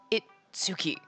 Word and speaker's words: Itsuki: It's written as one moon and pronounced Itsuki.